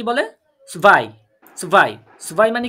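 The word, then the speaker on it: zwei: কি ওয়ান টু টু কে জার্মানিতে কি বলে সুভাই সুভাই সুভাই মানে কি ইয়া এখানে আমি একচুয়ালি সোয়াই লিখেছি কিন্তু সোয়াই না প্রোনাউন্সিয়েশনটা সুভাই হবে কারণ আমরা এই ডব্লিউ টাকে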